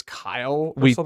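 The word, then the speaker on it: X Æ A-Xii: um correct this is i think you pronounce it technically as kyle we talked about that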